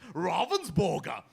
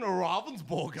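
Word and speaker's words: Ravensburger: told to is pronounced Ravensborg is how it's pronounced. So is that so is that is that how you pronounce it? Yes, it is. That's the proper German pronunciation. Robvensborg.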